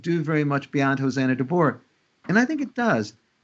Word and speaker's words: Tabor: I would just point out that back in Hosanna Tabor or Tabor, thank you, Erwin, for your pronunciation, there was a concurring opinion by an